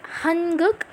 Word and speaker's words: 한국: Actually, you pronounce it hanguk, but most of Korean people out there don't really pronounce it really properly, like hanguk. They will almost say like hanguk or something like that.